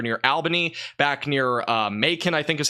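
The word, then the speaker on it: Macon: the winds continue to increase again look at maon mon I think it's mon over in mon Georgia it's a weird pronunciation mon Georgia we're probably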